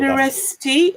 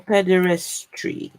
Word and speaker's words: pederasty: We know that Pederasty or pederastry? pederasty. T, right? PEDERASTY. Ah, right. So it's spelled PEDERA pederasty.